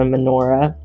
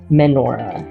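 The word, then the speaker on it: menorah: a picture of a manora menora it's not Mi it's me I always spell that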